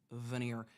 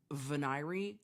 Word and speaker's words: venire: It is pronounced veneer. Venire just, I hate it so much.